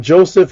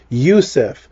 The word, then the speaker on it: Joseph: But the Hebrew pronunciation of Joseph wouldn't be Joseph because there was no J until on 1565. It would be Yusuf, as in our good brother R.I.P.